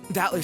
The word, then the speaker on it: Battler: me a break anyway my name battler well it's pretty damn weird don't you think i used to think his name was pronounced battle i've gotta wonder what my parents were thinking when they named me that i never met anyone who could read it right the first time i usually get called